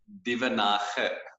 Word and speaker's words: Duvenhage: Duvenhage. Yes. I know the it's not very famous around all English languages, so it's an Afrikaans thing.